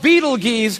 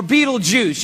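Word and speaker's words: Betelgeuse: about this star it's called beetle geese or beetlejuice you can pick your pronunciation i'm obviously going with beetlejuice and beetlejuice is incredible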